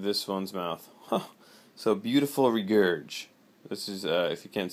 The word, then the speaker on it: Regurg: So beautiful regurge. This is if you can't see this, how this is spelled: REGURG, beautiful regurge.